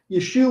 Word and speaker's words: Yeshua: Yeshua was how his name was pronounced in Galilee. Yeshua be how it would been pronounced in uh in Jerusalem.